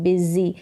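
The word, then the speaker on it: busy: पढ़ेंगे बिजी करके पढ़ेंगे बिजी एस का उच्चारण ज करके हो रहा है बिजी बिजी का मतलब व्यस्त तो मैं हूं व्यस्त मैं क्या हूं मैं व्यस्त हूं यह है बिजी व्यस्त होना इसकी स्पेलिंग ऐसे ही होगी अगर हम उच्चारण जैसे कर रहे हैं बिजी तो यहां पर बी के बाद में इ का साउंड आ रहा है लेकिन यहां पर य आएगा याद रखें ये ऐसे ही फिर आगे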